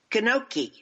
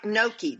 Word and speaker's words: gnocchi: fun experience i made kanoki and i say that right gnocchi the g is silent right yeah the dsl gnocchi is how they say